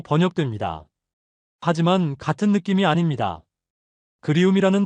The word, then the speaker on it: 그리움: 그리움이라는 단어를 발음해 보세요. 입안에서 부드럽게 굴러갑니다. 그에서 시작해서 움으로 끝나는 그 곡선.